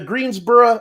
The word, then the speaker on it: Greensboro: Inexplicably, the Greensboro, and I'm saying Greensboro because that's how they pronounce it over there. I learned from the broadcast. It's not borough. They keep saying Greensboro.